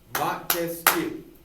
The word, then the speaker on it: Montesquieu: to sound out words montesquiou it's got three syllables three branches of government